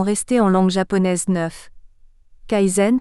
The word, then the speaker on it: kaizen: en langue japonaise neuf Kaizen prononcé kzen jidoka on devrait prononcer